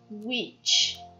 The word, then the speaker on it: which: W-H-I, som de UI, which, which. W-H-E, som de U, where, when, where, when.